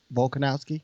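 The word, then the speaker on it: Volkanovski: oh sorry sorry say his name for me volkonowski yeah is that how you say yeah you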